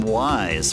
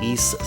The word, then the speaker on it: Ys: I mean I mean I called this game Wanderers from Wise from way back then.